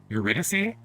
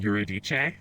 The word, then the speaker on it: Eurydice: then i realized that i had only heard eurydice for like opera and stuff so in my brain i was pronouncing it eurodice like it was italian or something uh so that was